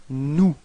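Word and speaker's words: nous: of the plural it's new repeat no okay so you've got this final s but you don't pronounce it okay new mhm and then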